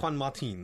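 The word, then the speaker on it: Juan Martín: I said Juan. I didn't call him John, but then I said Martin. It turns out it's Juan Martin. Martin, That's yes. how I should be pronouncing it.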